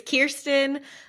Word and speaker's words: Kirsten: It's Kirsten, like the American Girl doll, like the actor Kirsten Dunst.